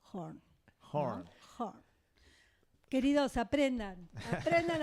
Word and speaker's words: Horne: Voy a decir orne, pero se pronuncia horn.